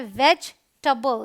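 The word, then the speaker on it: vegetable: Please, and ये है वेजिटेबल। यहाँ ये भी ई साइलेंट है तो इसे हम ऐसे डिवाइड कर लेंगे, देखेंगे वेज और टबल, वेजिटेबल नहीं बोलते हैं।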